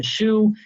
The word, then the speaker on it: choux: the word pate but it's actually caught the choux is the way it is pronounced properly it's a light pastry dough it's